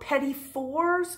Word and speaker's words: petit fours: Pettifer got her name did an ancient pet afore and vet those fancy iced cakes called petit fours which conveniently rhymes with spaghetti store you know those miniature